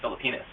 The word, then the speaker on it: Filipinas: talking about it's called, you have to say it's Filipinas. That's how you say it.